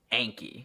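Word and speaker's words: Anki: Just remember that it's pronounced Anky.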